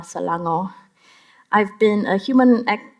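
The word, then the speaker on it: Selangor: half my life but I grew up in salango in Malaysia that's spelled s e l a n g o r salango I've been a human act a human rights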